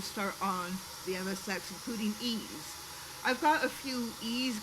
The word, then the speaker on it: Ys: on the MSX, including Ease. I've got a few Ease games on here. You folks are familiar with the E series. I know for a fact it's pronounced ease.